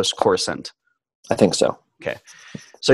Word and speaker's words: Coruscant: you finally see what Coruscant is that how you say it core skins looks like the the the second C is silent the the second C so score sent I think so okay